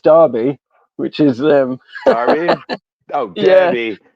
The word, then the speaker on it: Derby: It's actually pronounced Derby, which is um Derby.